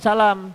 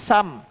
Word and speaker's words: Salam: Maka jangan salah pengucapannya karena kalau salah pengucapannya maka bisa berubah arti seperti Sam kalimat Sam artinya celaka Salam artinya keselamatan atau semoga Asalam yaitu ee